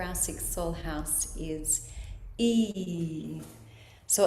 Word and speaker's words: Yi: Okay, so the sound for our sixth soul house is E. So, it's spelled like a Y I, but it's pronounced like a double E sound.